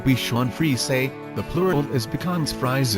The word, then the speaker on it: Bichon Frise: the become fries pronounced beef chuan free say the plural is becomes